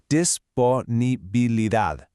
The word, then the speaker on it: disponibilidad: For this one, the stress is right at the very end, on dad. Let's say it together, disponibilidad.